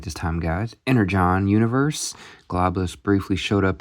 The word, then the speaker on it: Energon: Energon universe.